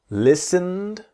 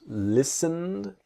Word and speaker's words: listened: study the pronunciation slowly listened so the t is silent listened and we imagine that